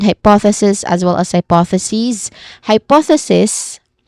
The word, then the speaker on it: hypothesis: Hypothesis hypothesis with a hissing sound at the end and a short e vowel sound before that is the singular form of this word.